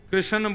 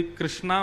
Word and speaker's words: कृष्ण: बंधुओं, कई लोग इस नाम को अशुद्ध बोलते हैं, कई लोग कृष्ण बोलते हैं, कई लोग कृष्ण बोलते हैं, कोई कृष्णा बोलता है। भगवान का नाम शुद्ध उच्चारण करो। नाम क्या है? कृष्ण।